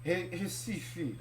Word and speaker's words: Recife: And the first synagogue in the Americas was built in the capital, Recife. I don't get it. There's an R, but why is it pronounced like an H?